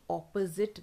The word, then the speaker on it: opposite: नो, जैसे अपॉर्चुनिटी बोलते हैं वैसे ही ऑपोजिट बोलते हैं, अपोजिट, अपोजिट, अपोजिट, अपोजिट, अपोजिट, हाउ it sounds is ज़िट, ज़िट, ठीक है, अपोजिट, अपोजिट, ऐसे साउंड करता है।